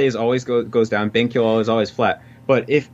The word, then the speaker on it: 勉強: And so if you take like benkyo, that's like flat.